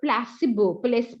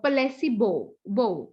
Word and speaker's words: placebo: Okay, next is a placebo. Rather I would say it's placebo. Okay, so it's a Latin word again, placebo.